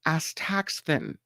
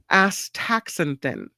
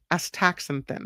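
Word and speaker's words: astaxanthin: These lobsters have several layers of pigment called a taxfin. Sorry, I said it wrong. Actan I'll say I'll let me get it right. A taxenthin. A taxenthin.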